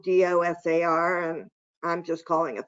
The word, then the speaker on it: DOSAR: known as well as i call it the dosar but perhaps there's another pronunciation but it's certainly spelled d-o-s-a-r and i'm just calling it the dosar and